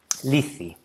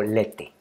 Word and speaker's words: Λήθη: al principio del poema, es la forma griega para decir olvido, lithi, o en español lethe o lete, dependiendo pues de cómo se pronuncia.